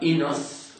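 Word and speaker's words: οἶνος: D'ailleurs, le mot est clair, le mot est oinos en grec, oinos ou bien inos, on dirait aujourd'hui, d'après la prononciation moderne.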